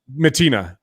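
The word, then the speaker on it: Mattina: Matina. Yeah, Matina. Francesco Sorry, I was thinking of Matina, someone else.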